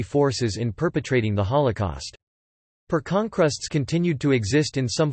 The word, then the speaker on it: Pērkonkrusts: Pērkonkrusts Latvian pronunciation, PHR.KUN.Krusts, Thunder Cross, was a Latvian